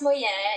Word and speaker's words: Moyo: It's pronounced Moyo. It's a Japanese word, and it actually means pattern. M-O-Y-O. So a lot of people do say Moyo, but it's actually pronounced Moyo.